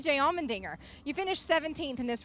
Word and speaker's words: Allmendinger: It also rhymes with his last name, which is fitting for us, Allmendinger.